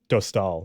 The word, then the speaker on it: Dostál: first name and then it's Dostal like Lucas Dostal okay feels tall yeah okay sounds good